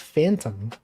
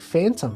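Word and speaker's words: Fantome: And she pronounced it like Phantom.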